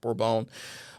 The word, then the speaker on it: Bourbon: areas is a bourbon spelled bourbon but it's pronounced bore-bone because some of the french traders had taken it and and planted it